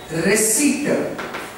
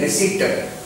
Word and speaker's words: receipt: Receipt. Res E T. That is the pronunciation. Res-E-T. Receipt.